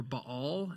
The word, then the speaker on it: Baal: You can think about the prophets of Baal, or Baal, as it's actually properly pronounced, but we say Baal because that's what we usually say, right?